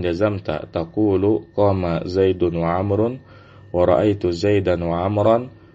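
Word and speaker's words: عمرو: Kalau setelah ain, mim dan ra ada wawnya, maka kita bacanya Amrun ya. Tapi kalau nggak ada wawnya, kita bacanya Umar ya.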